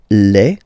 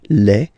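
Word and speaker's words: les: the plural form then the article here becomes Le so that's the plural form okay Le and then same rule you just write lever and then you put s at the end but then you don't pronounce it so it's quite interesting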